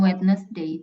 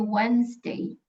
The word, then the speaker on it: Wednesday: car On That Day bacanya bukan wetness day tapi Wednesday w w w sama